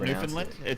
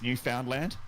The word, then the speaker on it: Newfoundland: So it's not Newfoundland. It's Newfoundland. Newfoundland, yeah. If Newfoundland. Okay. Yeah, it's like if to noof was a verb.